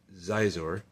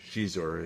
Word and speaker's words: Xizor: In between in in between that time, there was a massive conspiracy which is by Prince Xizor or Shizor, if I remember the original pronunciation.